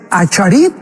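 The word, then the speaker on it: אחרית: Qué importante es Acharit en el hebreo, o Aharit, como se pronuncia, Yom.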